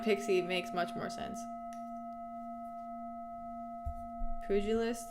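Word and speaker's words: pugilist: Pujilist, it's pronounced.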